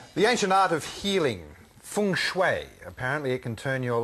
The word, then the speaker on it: Feng Shui: that correctly yes it's fun that's the Mandarin pronunciation that's right and what